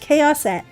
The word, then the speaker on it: Chaoset: My username is pronounced Chaoset. Chaos with an et on the end.